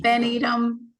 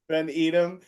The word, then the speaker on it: Haley Van Edom: Van Edom. Van Edom.